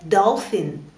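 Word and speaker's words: dolphin: посмотрим на букву пи иногда буква P в словах встречается нам в сочетании с буквой H и вот комы видим что эти две буквы стали рядышком то они читаются как ф например в слове телефон или в слове Долфин дофин Дельфин Долфин запоминаем P и H рядышком это дофин спасибо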